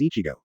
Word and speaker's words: Ichigo: It's an anime where the main character is Kurosaki Ichigo, and the Japanese pronunciation of his name is Ichigo.